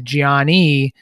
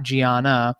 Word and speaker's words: Giani: the post the P the student's name is Giani Del Rio not Giana so it's Giani Del